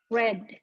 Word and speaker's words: read: dalam bentuk past simple read nah ini tulisannya sama ya e r e a d Tapi bacanya kalau di past simple red kemudian berubah jadi berubah